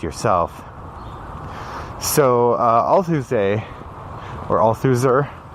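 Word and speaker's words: Althusser: so i'll tuesday or all suzer it looks like a loser but i think you don't pronounce the are talked about the way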